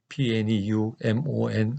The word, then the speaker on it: pneumonia: 뉴 보니 아 즉 pneumonia 아이인데 앞에 피가 묵음 이지만 기획 이렇게 폐의 앞에